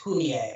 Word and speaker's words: Fumie: but it's pronounced Morie, and my sister's name looks like Fummy, but it's pronounced Humie.